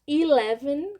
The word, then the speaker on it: eleven: ser uma lógica então o 11 a gente fala el el em alguns suta você pode escutar Eleven com som de i no começo 12 12 12 então